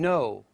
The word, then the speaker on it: know: words as listen whistle the letter K as in know night homophones are words